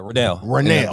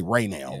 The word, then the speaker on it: Ranell: And we got my man, I don't want to say your name wrong, bro. Yeah, Ranell. Okay, I wanted to say Ranell.